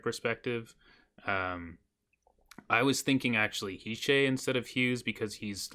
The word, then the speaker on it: Hischier: I feel like with Hischier, I'm pretty sure it's pronounced Hischier. Sure.